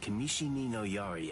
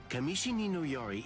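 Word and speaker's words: Kamishini no Yari: Well, now that you figured it out, I'll tell you just how fast Kamishi Yari extends. You mispronounced it, Doug. You hear that? It's 500 times faster than that. Kamishi Ninoari isn't the longest sakto, but it's definitely the fastest.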